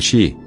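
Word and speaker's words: し: O mais assustador é que o número quatro em japonês se pronuncia Xi, que também significa morte.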